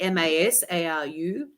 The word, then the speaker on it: Masaru: So his name is Masaru, phonetically, Masaru, Emoto, which sounds like emotion anyway.